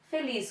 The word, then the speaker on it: feliz: Oxítonas, feliz, qual é a sílaba mais forte? Lis, café, caju.